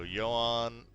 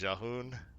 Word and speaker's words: Yahoon: legendaries, we're gonna go Johan, or Yahoon. I think that's how you say it. I was corrected. I was saying it wrong all these years. It is Yahoon, Keeper of the Jade Spark.